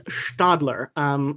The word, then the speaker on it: Stadler: So, it's Siemens because it is followed by vowels, but it's Stadler because it is followed by a T.